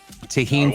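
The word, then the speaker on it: Tajín: it's reminding me of okay tahin folks t-a-j-i-n that's how you spell it you can usually find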